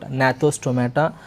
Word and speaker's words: Gnathostomata: Gnathostomata. Somewhere we will even silent the G here, we can pronounce it as what? Gnathostomata, Agnatha, we can pronounce like that also, students.